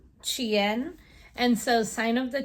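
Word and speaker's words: Qin: Then I also read Sign of the, and if I'm pronouncing it correctly based on what was in the book, it's Chien.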